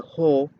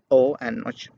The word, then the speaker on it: ho: If you wonder why I don't pronounce this as a ho, I explained it in a previous lesson, so you can go and watch it. Why I pronounce this as o and not ho.